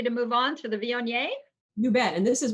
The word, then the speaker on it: Viognier: I went somewhere once and they told me, I was like, Vogue, how do you say it? And the woman's like, Viognier. And I'm like, Viognier. She goes, like mayonnaise, only not.